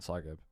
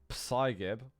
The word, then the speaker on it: Psygib: The P is silent. Psygib. Psygib. Don't make me such happy little accidents. Hey, if you can play Quake like that, then all the power to you. It's not Psygib, okay? If anyone calls him Psygib,